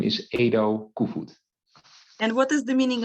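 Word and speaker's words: Edo Koevoet: for having me i really appreciate it you pronounce my name as ado and and the full name is edo kufud and what is the meaning of your last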